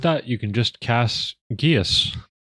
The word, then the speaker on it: geas: Um like proper Irish um language and um it's pronounced Geas. Geas.